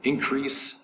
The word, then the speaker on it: increase: strength or quality again increase is two syllables accent is over the first syllable it is a verb